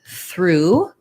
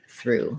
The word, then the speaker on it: through: for this viewer yes it's a difficult word because of the thr and this has the same pronunciation as this word through so if that helps you it might be also that the o-u-g-h is confusing because we use that in words like tough and rough to be the uf